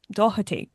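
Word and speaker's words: Doherty: Because her name is is Irish. Her name is Erin Dati. Dohati. Sorry, I that got stuck in my throat a bit. It there's a H in it. Basically, there's a H in dati. None of them were pronouncing it and it was driving me crazy.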